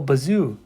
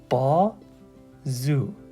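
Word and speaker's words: بازو: it will be so you may also to say oh bazo bazo but that's not correct so that's why we're putting the whole point of this lesson is to learn that when the period is here we are breaking down this into B Zoo so it's not a bazo it's Bou B Zoo all right so we're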